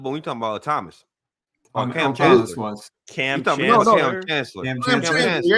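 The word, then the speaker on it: Kam Chancellor: Cam Chancellor was. Cam Chancellor. Cam Chancellor. Yeah, I said the name wrong.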